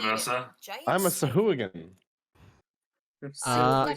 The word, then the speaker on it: Sahuagin: see how you say it, and apparently it's Sahuagin. And I was like, that Sahuagin? can't be right. Really? Sahuagin. Hooligan. What? Sahuagin. Sahuagin. You reckon? Simply Thanks, stating, Matt Mercer. giant I'm a snake. Sahuagin.